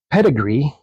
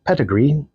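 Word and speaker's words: Pettegree: English Protestants to emden pedigree that's his last name it's not spelled like uh what You' think it would be spelled like it's p TT G re e e pedigree then asserts quote nevertheless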